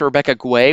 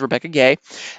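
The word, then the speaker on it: Rebecca Guay: you may think that now the name is pronounced Rebecca Quay which I did for many many years because it's GU a y but I've been recently corrected it is Rebecca gay as I understand it so unless somebody unless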